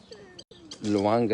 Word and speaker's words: Lwanga: And Luanga is spelled Lwanga if you want to Google.